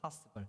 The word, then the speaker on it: possible: 여기는 T가 파가 아니죠. 파스블 이렇게 됩니다.